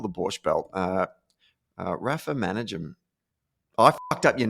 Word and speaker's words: Manajem: Yeah, just Manajem. Yeah, Manajem. It's Yemeni in background, so there aren't many Manajems. No, there's not. And it's the goddamn emphasis on the wrong syllable that just throws me every time.